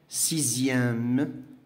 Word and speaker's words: sixième: Alors, on a le son X, ça se prononce Z, qui est Z. هذا في الحالة ديال les adjectifs numéro ordinaux في واحد الصفات ديال الترتيب. Par exemple, deuxième, sixième, dixième.